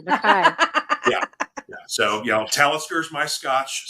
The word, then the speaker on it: Mackay: I'm actually a member of two different Scottish clans because by blood, I'm a Mackay or Mackay as it's pronounced. Mackay. That's proper Mackay.